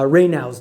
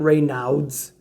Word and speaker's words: Raynaud's: we're talking about uh raynaud's disease right now it's spelled r-a-y-n-a-u-d-s so it's not ray nouds it's raynaud's it's french this is a great